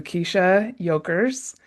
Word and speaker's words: Kiesha Yokers: And today I'm so excited to introduce you to Kiesha Yokers. Did I pronounce that right?